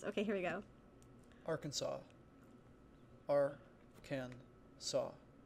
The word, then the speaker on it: Arkansas: mean i was so confident that it said our kansas and then you guys were telling me that it's not we're gonna have a pronunciation stream how do you pronounce our kansas